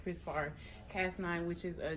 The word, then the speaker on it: CRISPR: or an enzyme called Chris bar which is C R I SPR kind of pronounced like Chris bar cast nine which is